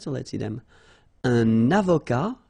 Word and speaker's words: avocat: Un avocat, so remember, liaison here and then final T not pronounced, okay? Un avocat.